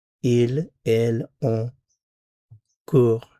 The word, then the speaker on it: court: Il, elle, on court. Notice these three are pronounced the same.